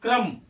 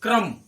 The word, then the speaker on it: क्रम: लेकिन अभी हमने क्या उच्चारण किया? क्रम, क्र, क्र, कर नहीं, क्र।